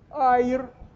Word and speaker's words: аир: стер женский даю справку аир ударение на Первом слоге травянистое болотное растение с